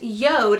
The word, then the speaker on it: JORD: doesn't have to be the specific one but Yoda is how you pronounce it it looks like George J Ord